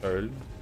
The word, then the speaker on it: Köln: Been to, as we'd say in America, Cologne. Been to Cologne. Which I will butcher the pronunciation of. It's like Köln.